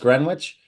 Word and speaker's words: Greenwich: Ganal Seelick, Exeter, West Greenwich. Is it Greenwich or Greenwich? Greenwich. All right, Greenwich. So that W is silent.